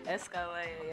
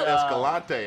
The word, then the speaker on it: Escollaiya: Did I say it right? Escollaiya. Yeah. Escollaiya. I thought it was Escalante. I thought it was Escalante the other day.